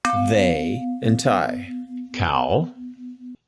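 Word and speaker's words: เขา: say they in Thai cow is a rising tone how how um means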